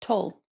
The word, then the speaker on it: Tolle: And Jess, what's the right pronunciation of her last name? Tolle. Tolle, okay.